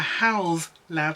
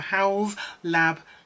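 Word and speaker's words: Haus Labs: say this properly a house lab so pronounce it like house so a house lab lip liner so howell's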